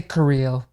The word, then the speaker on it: Carrillo: Um you I would you could just say just say Curiel. Curiel? Yeah. Curiel? Curiel. Yeah. Now, it when I when I spell it in the title of the episode, is that I like in a hyphenated way?